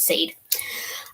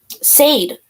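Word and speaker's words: Syde: So his name is spelled S-Y-D-E, but it's pronounced Sade. Sade.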